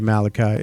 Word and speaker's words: Malachi: on instagram at dj malachi m-a-l-a-c-h-i it's the biblical pronunciation or think of children of the corn the movie there it is